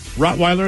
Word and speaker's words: Rottweiler: Rottweiler is correct. A lot of people say Rottweiler. What? Rottweiler? What the hell? I like that Rottweiler. It's Weiler. Rottweiler. Yeah. Rottweiler.